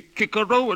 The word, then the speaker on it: Cicero: Making the boys say kicko at school when for the rest of their lives they'll say Cicero if they ever say it at all.